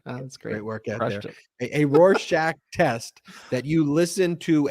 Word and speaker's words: Rorschach: we talked about the Rorschach test on the last one I view that I just got to correct you Ben because everyone's been real upset with your pronunciation here it's Rorschach and we were just